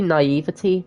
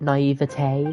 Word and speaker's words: naivety: Wouldn't it be naivety, not naivete?